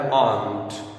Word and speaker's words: aren't: तो इसका जो कंट्रैक्शन होता है वो होता है आंट. आंट. आर is silent hair.